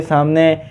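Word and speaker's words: 삼: कहते हैं खंग खंग य आप लोगों के सामने वन लिखा है इसे हम सीनो कोरियन नंबर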